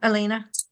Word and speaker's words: Alina: And is that the pronunciation, Alina?